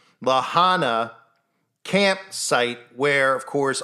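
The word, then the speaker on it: La Junta: went to the Lahana which is spelled it looks like it's lega but it's Lahana camp site where of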